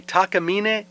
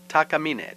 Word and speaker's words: Takamine: Takamine, Takamine, pronounced by most Americans as Takamine. And that one over there is definitely Takamine for now.